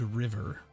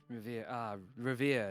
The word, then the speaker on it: River: Revere. It not pronounced river, Okay. and that will be explained later.